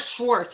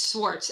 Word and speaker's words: Swartz: I don't have like it's not Schwartz, it's Swartz. Swartz. Everyone mispronounces his name. So it's Swartz.